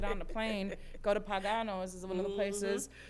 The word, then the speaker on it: Pagano's: Like, I need to get on the plane, go to Pagano's is one of the places. Did I say it right? Pagano's, yeah.